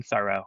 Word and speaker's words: thorough: So this is thorough being thorough right all that's changed is which syllable has the stress and that's another one